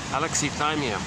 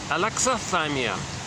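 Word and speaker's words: alexithymia: Oops, new pronunciation here. Okay. Um sorry, alexathyia. I've been mispronouncing this word incorrectly. Um I think I think it's pronounced I'm going to go with this guy here. They say it's pronounced alexathyia. Last time I was saying Alexia cuz I heard a couple of guys in an interview they was they were saying Alexia and prior to that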